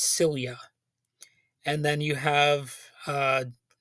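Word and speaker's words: Silje: silia salamonson and I I had to look up how to pronounce that first name because it's spelled s i l j and it turns out that's cilia and then you have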